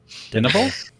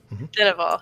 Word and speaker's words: Dineval: then we left to go to I can't pronounce the word. Dinnable? Dineval, yeah.